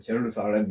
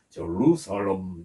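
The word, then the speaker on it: Jerusalem: 그전에 저는 이제 그 발음 기호를 확인하기 전에는 그냥 제루살렘 이렇게 했는데 그게 아니고요. 좀 이해하시기 바랍니다. 영어로 정확한 제 발음이 정확하지 않지만 제루살렘 이렇습니다.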